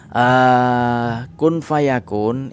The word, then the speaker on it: kun fayakun: Nah, saya akan membahas kun fayakun itu ada bacaan ikhfa namanya, ikhfa hakiki. Ada nun mati bertemu dengan fa.